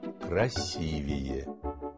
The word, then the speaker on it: красивее: А как правильно? Для меня «красивее» звучит «красивее». А мой папа часто говорит, что мама красивее всех. Но это спорный вопрос, чья мама красивее. А правильно говорить «красивее».